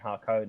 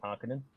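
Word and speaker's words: Harkonnen: other guy he plays harconan that's one thing that did bug me is that they say hakone instead of harkening is that how it's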